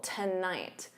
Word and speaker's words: tonight: So notice that syllable stress, the first syllable is unstressed, so to becomes that unstressed ta, and then night is your stressed syllable, tonight, da-da, tonight.